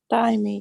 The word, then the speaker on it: Daimi: So as I was telling, I'm sorry, how do you say your name? Daimi? Is that how you say it? Daimi, yeah, Daimi.